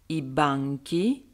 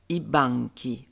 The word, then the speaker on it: banchi: L'accentuation plane piana signifie que l'accent est sur l'avant-dernière syllabe. Passons tout de suite à des exemples. Le banc, il banco, les bancs, i banchi, i banchi. On entend très bien l'accentuation.